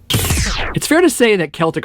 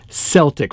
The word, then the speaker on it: Celtic: I was one of those people who used to pronounce this band's name "Sell-tic" Frost.